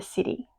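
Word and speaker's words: siddhi: So that city is spelled s i d hi in case you're wondering what I'm saying cuz um my daughter said she thought I was saying city as in c i t y.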